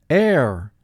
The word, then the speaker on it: heir: to a vast fortune air two sounds in this word the first sound is a er air now pause the video and take a moment to mark the word and when you are ready advance the video screen notice the wave sign under the letter h the wave sign in